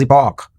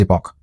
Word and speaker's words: epoch: is also known as epoch. Some people may pronounce it as epo and some as epoch. Doesn't matter.